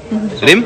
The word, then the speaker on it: Reem: क्या लोगों को कुछ बोलो जो मेरा नाम रीम नहीं रिम बोलता है। स्पेलिंग पढ़ लो नाम की। R E E M, pronounce that as रीम नॉट रिम। अगर रिम होता तो R I M होता ना।